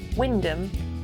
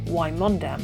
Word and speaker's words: Wymondham: Wymondham, or Wymondham as it's spelt, is the market town we moved to after we left the farm.